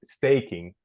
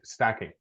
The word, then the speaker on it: stacking: a is an a I'll say staking right no not like that sorry it's stacking so to stack something